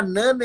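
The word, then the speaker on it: Jnana: gente falar agora do é se pronuncia Nana yoga Mas é com j que é isso algumas pessoas falam de Nana de Nana yoga é j n a n a dinana yoga tá porque eu tô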